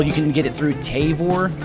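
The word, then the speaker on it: Tavour: um as well you can get it through tavor taver however you say it yeah we pronounce it t-a-v-o-u-r j-b-o-u-r you can get it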